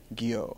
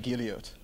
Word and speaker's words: Guillot: good all right well now that you said it I got a shot but before I would have said gilot so I'm bad at